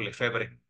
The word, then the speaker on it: Lefebvre: Ahí fue el quiebre de Monseñor Lefebvre, lo pronuncio en español.